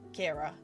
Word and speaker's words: Kyra: Kira. It's spelt Kyra. And talking of Kyra, hi Kyra, welcome in. So Kyra Dashia is pronounced Kyra, but mine is Kira.